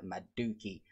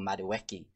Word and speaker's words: Madueke: Skeldrick, Pedersen, and Maduki. Or Madueke, as he is now known since he has moved to England, we get a correct pronunciation of his name.